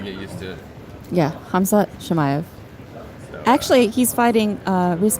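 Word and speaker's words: Khamzat Chimaev: Hamzat Shemaev Shemaev. Okay. or Shemaev. Shemaev. See, that's the name I think we're gonna be saying a lot soon. So gotta get used to it. Yeah, Hamzat Shemaev.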